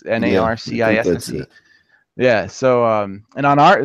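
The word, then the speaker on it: Narcisse: looks like in Evan Narsee it's NERC I see yeah so and on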